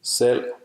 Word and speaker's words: Selv: V is silent after L. For example, Selv. meaning self, and Gulv. meaning floor. It's also silent after the vowel U.